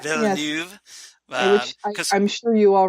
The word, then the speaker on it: Villeneuve: I need to start posting some articles about the upcoming Dune adaptation by Denis Villeneuve, or however you pronounce his last name. Villeneuve? Villeneuve.